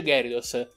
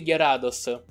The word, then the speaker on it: Gyarados: dos a piccola cosa non si dice gary dos dovrebbe chiamarsi chiara dos chi perché è il